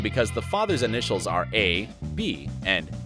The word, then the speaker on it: Eh Bee: the father's initials are a B and a B is how the initials are pronounced number one mr.